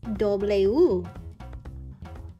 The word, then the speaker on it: doble u: W in Spanish is pronounced doble U.